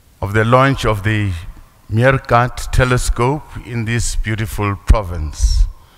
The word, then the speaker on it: MeerKAT: It's MeerKAT. It's an African word. I'm trying to think about it, and I feel it's African's word. And I'm sure we must use the African's pronunciation.